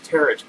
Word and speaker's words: tarot: The next line is, she pronounced it like carrot. So, he bought some of those tarot cards.